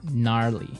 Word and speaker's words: gnarly: gnarly run yeah gnarly so an interesting word it's spelled g n a r l e y okay so but you don't say gnarly no you say gnarly yep and a related